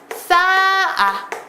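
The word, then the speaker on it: 쌓아: 단어도 있잖아요 나아 싸 분명히 히 받침이 있는데이 히읗이 발음되지 않고 각각 나아 싸아 이렇게 히읗이 없어지고 있다는 거 보이시나요 이런게 히읗 탈락입니다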